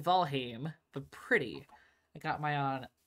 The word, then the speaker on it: Valheim: I know I'm pronouncing valheim volim is closer to the Old Norse pronunciation I'm a Linguistics not